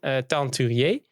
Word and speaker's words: Teinturier: We have Teinturier. I hope I pronounced it right.